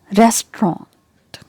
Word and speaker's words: restaurant: of this word is restaurant restaurant restaurant got it restaurant so here the stress is given on the first syllable and this is trend